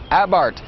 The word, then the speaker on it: Abarth: with the fiat 500 abarth it spelled a b a r th but the H is silent and the a is pronounced ah as in what happened